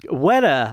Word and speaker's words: Weta: Weta.